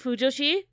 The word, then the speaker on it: fujoshi: Did I pronounce it right? Fujoshi?